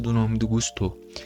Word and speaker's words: Gusto: Cara, uma coisa que eu acho interessante é a pronúncia do nome do Gustô, porque se eu só olho pro nome Gusto, eu acho que estaria errado. Eu acho que é Gustô.